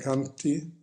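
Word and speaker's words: khanti: es aquí paciencia secante en realidad en palis se escribe con la última y es corta pero por cuestiones métricas aquí es una y larga pero en realidad canti es con una eso es paciencia y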